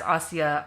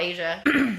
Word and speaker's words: Asia: is pretty good too and that one has AIA Argento in it okay so yeah that's how you pronounce her name I always thought Asia I think I finally like figured it out